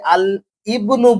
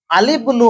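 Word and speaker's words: الابن: এখানে আমরা পড়েছিলাম ইবনুন শব্দটা উচ্চারণ আমরা আলিফ লাম রাখতে গেলে আল ইবনু বলি, এটা ভুল। আলিবনু হয়েছিল।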